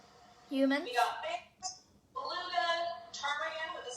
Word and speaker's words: ptarmigan: We got bears, beluga, ptarmigan with a silent E.